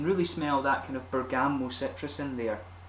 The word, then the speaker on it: bergamot: Or bergamot, I should say. Not pergamot. I'm pronouncing it wrong.